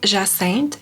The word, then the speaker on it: Jacinthe: So it's a soft J.